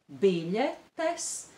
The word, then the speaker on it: biļetes: The stress is on the syllable bi, biļetes, and on the syllable pa, pasākumu.